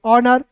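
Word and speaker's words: honour: एच ओ एन ओ यू आर को पढ़ेंगे ऑनर।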